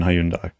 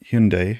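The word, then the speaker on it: Hyundai: In Korean, that word is pronounced closer to like that. Like Hyun as in Hugh. Hyun? Hyun-day. Hyun-day. A softer two-syllable sound, not Hyun-day, which is the common English mispronunciation. Korean speakers use a sound similar to Hyun-day or Hyun-day, emphasizing the first syllable.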